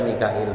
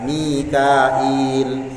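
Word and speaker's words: ميكائيل: Wa fi qiraatin, dan dalam suatu qiraat Mikail dibaca Mikail bihamzin, dengan pakai huruf hamzah, wa ya'in, dan pakai huruf ya, Mikail. Wa fi ukhra, riwayat lain, qiraah lain bila ya'in, enggak pakai huruf ya. Jadi Mikail, Michael jadinya ya, Mikail.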